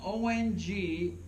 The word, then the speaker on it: Ong: mantra owned Ong o when you pronounce it correctly oh right your tongue comes up against your upper palate the roof of your mouth and it vibrates this whole frontal lobe of your brain mantras are designed to